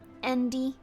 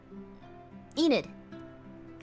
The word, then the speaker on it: Enid: It's not Andy, though.